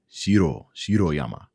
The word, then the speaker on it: Shiroyama: yama now i think i think in japanese they pronounce the rs with the top of the tongue top of the roof so shiro shiro yama anyways it looks like